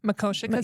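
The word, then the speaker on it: Makoshika: I will say out in the Glendive area, though, Makoshka State. Yeah. Is that how you say it? Makoshka State Park.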